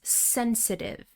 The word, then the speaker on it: sensitive: Our next word is sensitive. Sensitive. Stress on the first syllable.